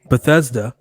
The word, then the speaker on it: Bethesda: Our next one is Bethesda. See, I pronounced it correctly this time.